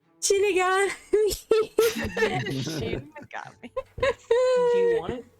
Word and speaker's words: Shinigami: Shin Shinigami is death god. It's like Yeah. Shinigami. No, not Shinigami. No, not pronounc like that. It's Shinigami. Shinigami.